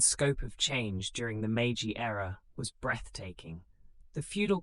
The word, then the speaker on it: Meiji: The Meiji Constitution, pronounced Meiji, of 1889 created a constitutional monarchy.